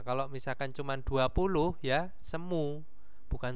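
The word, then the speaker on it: 스무: Nah, kalau misalkan cuman 20 ya semu, bukan semul.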